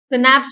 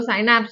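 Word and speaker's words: synapse: सिनैप्स बोलो, साइनैप्स बोलो, जो बोलने में खुशी मिल रहा है वो बोलो, स्पेलिंग सही लिखना है एग्जाम में, ठीक है।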